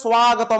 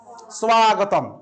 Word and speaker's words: স্বাগতম: হয়ে গেল সুযোগ আগতম স্বাগতম যদিও এটাকে সংস্কৃত স্বাগতম উচ্চারণ করতে হয় স্বাগতম ঠিক আছে আমি বলি না সংস্কৃত পাঠের সর্বেশাম